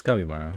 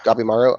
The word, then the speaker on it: Gabimaru: I'm, I definitely, as far as the Gabimaru, is that how that dude's name is pronounced? Yeah, it's Kabimaro. Yeah. Gabimaru.